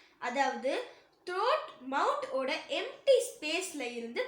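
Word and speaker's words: تاء: தா நம்ம நாக்கோட நுனி இருக்குல்ல, அது மேல் வரிசையில் இருக்க நடு பற்களோட ஈர டச் பண்ணும்போது உச்சரிக்கக்கூடிய லெட்டர் தா. தா.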